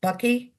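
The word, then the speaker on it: bakkie: Bucky?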